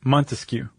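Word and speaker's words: Montesquieu: them Rouso Ditto Voltater um how do you pronounce that is that it's not Monteue is it Montescu Montescu uhhu um and they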